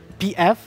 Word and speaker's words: PF: So we have Naiman versus PF.